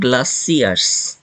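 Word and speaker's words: glaciers: Himali Himalayan গ্লাসারস গ্লাসিয়ারস এটার উচ্চারণ হবে গ্লাসিয়ারস গ্লাসিয়ার ওকে তো গ্লাসিয়ার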